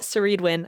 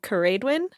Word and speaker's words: Ceridwen: he likes mythology, and it's a Celtic goddess named, how we pronounce it, Ceridwen. I think it's supposed to be Ceridwen. So because Celtic, I think, would be the hard C.